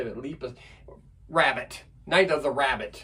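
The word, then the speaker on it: Lepus: Night of the Leapus. Lipus. How do you say it? Leapus.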